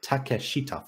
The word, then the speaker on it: Takashita: pronounce his name correctly takashita not take a but just takashita four syllables that's not on you